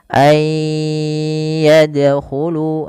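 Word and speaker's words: أَنْ يَدْخُلُوهَا: Kemudian pelafal ay yadkhulu sama ada nun sukun bertemu dengan huruf ya. Maka cara membacanya sebagaimana ayudkaro yaitu masukkan nunnya kepada huruf ya dan bunyi nunnya hilang kemudian terdengar hanya bunyi yanya saja dan ditahan sepanjang dua harakat.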